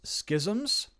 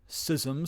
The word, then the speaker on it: schisms: Now that doesn't mean that there hasn't been various schisms, sisms some people say who pronounce the word incorrectly and mergers and so forth.